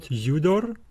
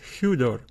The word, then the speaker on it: hudor: the word hudor hudor remember this is the rav breathing Mark we bring the sound it's not judor eudor it is hudor ah yeah what would